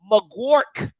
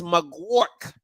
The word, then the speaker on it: Magouirk: here film breakdown of Kevin mcgork that's how you pronounce that thing okay it's mcwark now South Carolina State